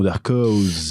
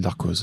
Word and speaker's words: Darkos: Orochi Jidai et bien sûr le bon Darkos. L'habituel Darkos. T'as vu, je le prononce bien maintenant.